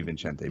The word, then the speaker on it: Vincente: If I was in Italy, it'd be Vincente. But Vincent's fine.